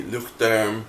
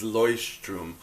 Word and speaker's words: Leuchtturm: I have one that is a mini Luchterm. Proper pronunciation is Leuchtturm.